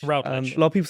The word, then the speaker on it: Routledge: Miles Routledge. Routledge.